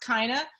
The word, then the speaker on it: Chyna: her name is pronounced Chyna it rhymes with vagina as a host it's